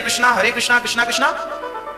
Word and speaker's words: हरे कृष्ण: शुद्ध उच्चारण इसका क्या है? हरे राम राम राम हरे हरे, हरे कृष्ण कृष्ण कृष्ण हरे हरे।